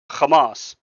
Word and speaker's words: Hamas: It is the correct way of saying it because they the people who created kamas named it kamas because that is how you say kamas. This is not pronouncing it like a zanist. If anything if you want to be a palestine supporter then you actually should be saying kamas because that is the proper way that they themselves named themselves.